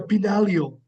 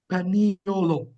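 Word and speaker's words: paniolo: and ladies called the pinalio panilio I apologize panolo is how it's pronounced and they were the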